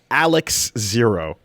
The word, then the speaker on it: XARX0: XARX0 is pronounced officially Alex Zero. The first X is silent because reasons.